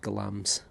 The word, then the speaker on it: Glamis: nearby glams glams Castle spelled Glamis but pronounced glams and that's been the